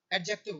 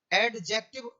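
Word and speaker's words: adjective: है और एक आपका एडजेक्टिव होता है। आप इसे एडजेक्टिव ना बोलें, एडजेक्टिव गलत हो जाएगा यदि बोलोगे तो, आप इसे जो डी को आप साइलेंट रखें, इसे ये बोला जाएगा एडजेक्टिव, ठीक है, एडजेक्टिव, क्या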